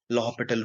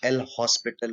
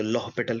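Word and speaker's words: L'Hôpital: आपको सिखानी है मुझे, लॉहपिटल रूल, जिसको लिखते हैं हम एल हॉस्पिटल रूल। उसको प्रोनाउंस करते हैं, फ्रेंच वर्ड है, तो लॉहपिटल कहते हैं।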